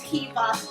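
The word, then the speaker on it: Hiwa: My name is Hiva. Spelled with a W, sounds like a V. It's Hawaiian.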